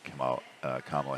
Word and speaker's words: Kamala: We still do have some issues there, but they've come down considerably since Biden and Kamala Harris have been in office. I watch so much right-wing garbage that I can't pronounce her name sometimes.